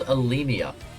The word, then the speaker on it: Alemia: This is called Alemia.